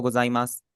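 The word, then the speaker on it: ございます: हमेशा जो इसका ऊ है वो साइलेंट हो जाता है, ठीक है। फॉर एग्जाम्पल आपका है ओहायो गोजाइमास, इत्ते की मास, आरिगातो गोजाइमास, यहाँ पर सारों में हमारा जो ऊ है फाइनल, ये हमारा साइलेंट होगा।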